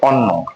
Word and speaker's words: অন্য: এবার একটি শব্দ আছে অন্য, এখানে প্রথমে একটা অ আছে। তাহলে আমরা জানি যদি কখনো অ এর ঠিক পরের বর্ণের সাথে জফলা থাকে, তাহলে সেই অ এর উচ্চারণটা ওকারের মতো হয়।